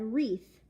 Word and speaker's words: wreath: the letter R and I said wreath you know like a Christmas wreath because it has the her sound the W is silent and so my teacher